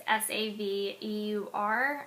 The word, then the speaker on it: Saveur: I also like Savior. I think that's how you say it. It's Saveur.